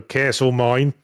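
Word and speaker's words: Castlemaine: Well, they pronounce it Australian, so Castle Mine.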